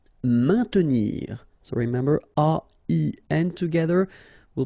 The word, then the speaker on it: maintenir: Maintenir, so remember A-I-N together will produce the sound un, main. Maintenir. Don't insist on the E. Maintenir.